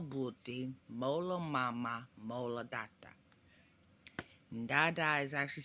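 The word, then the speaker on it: tata: molo Mama mola doctor Dada is actually spelled t-a-t-a instead of d-a-d-a even though it's pronounced with a D sound I didn't make up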